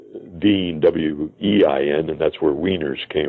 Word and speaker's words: Wien: Vienna is pronounced Wien, W-E-I-N, and that's where wieners came from, the word wieners.